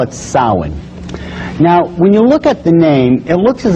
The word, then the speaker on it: Samhain: the name it looks as if it's saying Sam hayen or something like that no no no no this is properly pronounced in the ancient Gaelic as Salin sound according to occult tradition was the lord